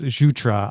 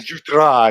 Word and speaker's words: Jutras: It's Jutra. I apologize. Jutra. That's quite all right. Or you can go Jutra if you want to go full French.